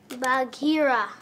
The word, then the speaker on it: Bagheera: How do you pronounce his name, guys? Bagheera.